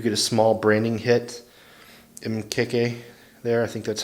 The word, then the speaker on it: Mkeke: little you do get a small branding hit mkk there that's how you say it so there's